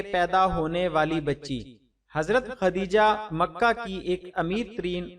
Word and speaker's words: خدیجہ: پہلی زوجہ محترمہ ہیں۔ کچھ لوگ ان کے نام کا تلفظ تے سے ختیجہ بولتے ہیں جو درست نہیں ہے، یہ لفظ خدیجہ ہے دال سے۔ خدیجہ رضی اللہ تعالی